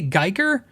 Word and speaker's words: Guyker: I say Guyker hardware. It's G like Guy G-U-I. No, G-U-Y-K-E-R. Guyker. If that's how you say it, great.